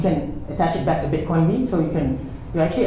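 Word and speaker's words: bitcoind: You don't pronounce it like Bitcoin. It's called Bitcoin D.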